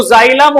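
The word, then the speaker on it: xylem: तो उसमें पढ़ा था जो जाइलम होता है भाई ठीक है इसका मतलब होता है एक्स वाई एल ई M English में यही स्पेलिंग लिखते हैं हम ठीक है जाई का मतलब होता है क्या?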